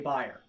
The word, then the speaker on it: Beyerdynamic: to pronounce that because i'm going fire dynamic on this instead of bare dynamic because i've heard people who work for buyer say buyer okay anyway so k